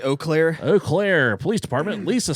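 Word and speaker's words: Eau Claire: to the Oakland clear how do you pronounce that II au all Claire Police Department say oh Claire oh Claire police department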